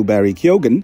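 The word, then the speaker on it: Barry Keoghan: lafalkan jadi sendaya lalu Barry kogen yang sering dilafalkan tanpa huruf g ada lagi kata lama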